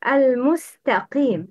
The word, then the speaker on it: المستقيم: Al-mustaqim. It's al-musta. Not. It's not. Al-musta. Al-mustaqim. Wrong.